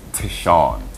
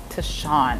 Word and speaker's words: Tishuan: But the proper pronunciation is Tishuan. Tishuan, and you say it so strong.